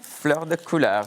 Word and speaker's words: fleur de couleur: How is the pronunciation? Exactly. Is that all This right? one, fleur de couleur, perfect.